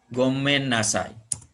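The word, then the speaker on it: ごめんなさい: bilang gomennasai maaf ya tulisannya go me n kemudian Nah jadi double N N yang pertama tidak dengan suka Child tapi dengan Ed jadi Gomen lalu Nash Shahih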